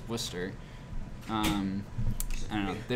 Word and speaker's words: Worcester: sdgs on their promotions are pronouncing it woosta or something like that it's just worcester um i don't know